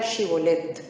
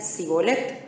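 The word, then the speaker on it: shibboleth: 6 Entonces le decían di pues la palabra chibolet Pero él decía si boleto porque no podía pronunciarla correctamente Entonces le echaba mano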